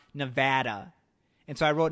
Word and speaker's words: Nevada: And Nevadans got mad because they say it's officially pronounced Nevada. And so I wrote, no, it's Nevada. It's a Spanish word.